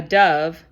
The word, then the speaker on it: dove: Saya wrote a beautiful bird called a dove. Dove rhymes with love.